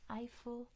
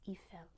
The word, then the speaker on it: Eiffel: Tower there we go eiel tow is how we say it in English in French it's eel not as exciting the